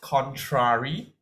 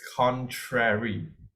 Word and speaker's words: contrary: Okay, it's not contrary, it's contrary.